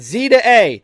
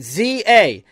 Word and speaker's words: Z-A: Is it Zah? They better say the name of this game cuz I'm getting tired of not knowing how to pronounce this game. I'm really looking forward to this one. By the way, like I don't know how to pronounce this. Like yeah, like tell me. Video games. They said it and I was wrong. It's Za. Okay, but now we know.